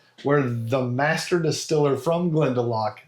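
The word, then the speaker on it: Glendalough: Glendeloo. That's how I was going to Nope. Glendelock. Glendelock. I actually uh actually found an advertisement from them where the master distiller from Glendelock said it out loud and I was like,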